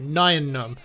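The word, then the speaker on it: Nien Nunb: and a new villain the new hero is Nayan um I used to pronounce it nyan um but apparently des told me that he was talking to like Lucas and they confirmed you actually say it 9 none so that's the right way to say it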